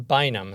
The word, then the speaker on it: Bynum: today we have our guest uh Trooper bam and I pronounced that correctly right yes you yes sir